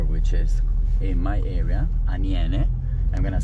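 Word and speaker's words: Aniene: this other river which is in my area anen I'm going to spell it for you a n i e n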